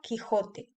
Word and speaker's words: Quijote: No se pronuncia cuando la U está entre la Q y la E o la I. Aquí tenemos el ejemplo de la palabra queso y la palabra Quijote.